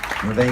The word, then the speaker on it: Revé: Rev, will you come out here, please? Revé. I call her Rev, but Revé is the right way to pronounce it.